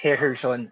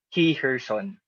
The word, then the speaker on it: Heherson: of the petitioner is herrerson alvarez he's a former senator former secretary of this university she corrected me and said that it is pronounced he her son and that her son